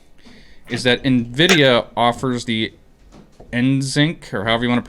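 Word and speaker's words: NVENC: thing for me is that nvidia offers the nsync or however you want to pronounce it for when you're streaming to where it automatically balances out your graphics card your cpu and your gpu load nvinc that's what it is nvinc um and that's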